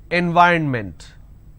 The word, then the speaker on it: environment: And the mistake that you end up doing is you end up pronouncing environment. Now this is wrong. It's not environment, it is environment. So please make sure you're pronouncing it correctly.